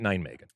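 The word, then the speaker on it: Nijmegen: not be caught dead calling it nine Megan is that how you pronounce it yeah right boy that's impressive that you just rattled that off have you never heard of like nine Megan no you've never heard of the city of Neman H oh okay all right I think that's how you pronounce it that's how I've always pronounced it all right cool all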